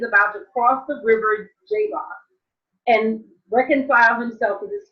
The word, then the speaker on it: Jabbok: So the next story in the cycle is Jacob at Jabbok, or you'll see Jabbok, but remember the J is a German thing. The pronunciation in the Hebrew is the Y, Jabbok.